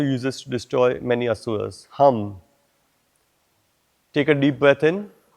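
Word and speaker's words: हं: And look inside and we'll chant the mantra Ham, H-A-M with a dot.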